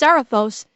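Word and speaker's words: Zarathos: the the the Z I think it's pronounced zaros has like gone into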